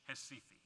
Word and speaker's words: Recife: And this was done, and done very successfully in a campaign in Brazil, in the town in the red box there, pronounced in Portuguese, Recife.